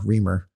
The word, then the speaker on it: Reimer: yeah Mega deal Secrets Jamal Reimer reamer is his name I'd give it a